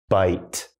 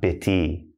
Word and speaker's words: bite: So again, silent E comes in. Bite, not bitty.